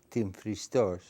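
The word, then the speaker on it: Τυμφρηστός: That mountain is called, I'll pronounce it in Greek, Timphristos.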